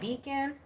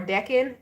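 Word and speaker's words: decan: next 48 readings by Deacon or Decon depending on your pronunciation Deacon or deckin first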